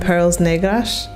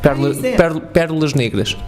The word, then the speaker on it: Pérolas Negras: it was him and Perles Negras. How do you say that? Perlas Negras, yeah. Perlas Negras. Sorry, no, Portuguese is difficult, yeah. Pérolas negras. Pérolas negras. Pérolas negras. Yeah, there you go.